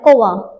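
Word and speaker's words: कौवा: अब वैसे भी हम कोवा पढ़ते हैं, कोवा, भले ही वा लिखा है लेकिन जब हम बोलते हैं कोवा, तो क्या हो गया, वा हमारा किसमें परिवर्तित हुआ, अ में।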